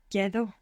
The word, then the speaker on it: quedo: Quedo. The E doesn't split here, but good for trying. Quedo.